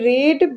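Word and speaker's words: read: फिर उसके बाद क्या हो जाएगा, बीन, फिर रीड बाय हिम, इसको रीड नहीं पढ़ेंगे, इसको पढ़ेंगे रीड, रेड, रेड, ठीक है, लेकिन स्पेलिंग वही रहती है, ठीक है, लेकिन जो हमारा सेंस होता है, प्रोनाउंसिएशन होता है, वो चेंज हो जाता है, ठीक है।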